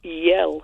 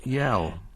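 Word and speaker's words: iel: Yell is pronounced. Yell.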